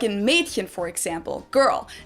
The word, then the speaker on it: Mädchen: Like in Mädchen, for example, girl. It's spelled with an umlaut A, but most people pronounce it more as if it was spelled with an E. So it's spelled Mädchen, but we usually pronounce it Mädchen.